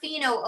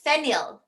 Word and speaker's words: phenyl: Not pheno, okay? It's phenyl. Phenyl. Phenyl. Phenyl. Okay.